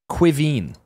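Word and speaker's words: Caoimhín: Kevin, you know what your name is in Irish? Quiveen.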